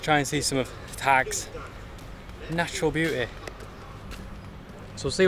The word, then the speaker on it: Tak: Today, let's just try and see some of Thag's natural beauty.